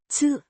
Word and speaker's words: tid: means time, pronounced Tid.